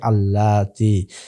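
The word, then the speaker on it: اللاتي: তাহলে এখানেও আমরা দেখতে পাচ্ছি আনিসা আ মুয়ান্নাস বহুবচন এসেছে তার ইসমুল মসুল প্রটিও এখানে বহুবচন মুয়ান্নাস হিসেবে এসেছে এবং তার উচ্চারণ হচ্ছে আল্লাতি পূর্বে আল্লাহ একবচন তার জন্য হয়েছে আল্লাজি আল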